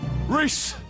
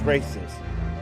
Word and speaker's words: Reis: But we were pronouncing it as racist. I didn't know. I never heard what the actual pronunciation was until now.